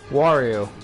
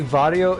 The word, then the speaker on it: Wario: In English, we pronounce the W's with a W, not a V. Yes, I know. But still, in English it's called Mario. Do you say Vario in German?